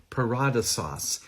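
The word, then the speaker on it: παράδεισος: The word is actually pronounced in the Koine Greek, paradisos, and it is a borrowed word from the Persian language.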